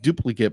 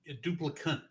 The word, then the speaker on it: Duplicant: pronounce it uh cup It's not duplicate, but what was it? Uh, duplicant.